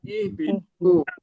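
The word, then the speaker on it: اهبطوا: Dia tidak dibaca kalau di wasol. Jadi kalau di wasol kulnah bitu. Jadi hamzah wasolnya tidak dibaca. Tapi kalau sendirian dia bacanya adalah ihbitu. Seperti itu adalah hamzah wasol.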